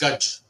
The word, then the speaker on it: Gaj: In America we pronounce it as Gaia, but or GaajA, because of the phonetics. But the word is Gaj, Okay, and Gaj means